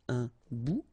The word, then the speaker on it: bout: Remember, final T not pronounced. Un bout.